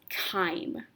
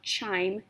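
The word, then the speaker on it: chyme: now this digested food is now known as time that's how you pronounce this word not chime it's kind time will leave your stomach go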